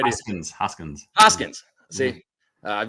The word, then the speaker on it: Hoskins: there's a ree Hawkins or re probably miss pronouncing name Reese Hopkins I guess from the Phillies right Hoskins Hoskins Hoskins see I have no business buying